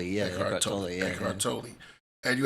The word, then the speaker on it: Eckhart Tolle: Eckhart Tolle, yeah. Eckhart Tolle.